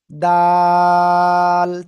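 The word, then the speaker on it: دال: জিহ্বার আগা উপরে দুই দাঁতের গোড়ায় লাগান, লাগান, লাগান। এই যে দুই দাঁতের গোড়া লাগান, লাগিয়ে আপনি উচ্চারণ করবেন। আমি কিন্তু দেখতে পাচ্ছি কে কোন দিকে তাকাচ্ছেন, এটাও লাগিয়ে আমরা উচ্চারণ করব। দাল, তিন আলিফ টেনে পড়তে হবে।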